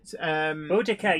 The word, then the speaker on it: Boudica: Boudica, yes. And there's a bit of like when I was a kid at school, she was called Boadicea, and then Yes. they changed the pronunciation.